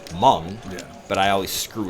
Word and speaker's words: Hmong: the time because I I read Ming but it's pronounced Hmong yeah but I always